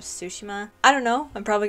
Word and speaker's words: Tsushima: differently this time because i'm pretty sure gosutsushima is not the correct way to say it so it's more like ghost of sushima i don't know i'm